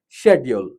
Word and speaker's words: schedule: In British English, it's pronounced as schedule, whereas in American English, it's pronounced as schedule. So here, as I said, we need to follow British rules, we need to follow British English. So we need to pronounce this as schedule. Schedule is the correct pronunciation.